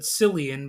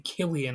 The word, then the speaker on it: Cillian: I used to always pronounce it Cillian, but it's actually Killian, I believe.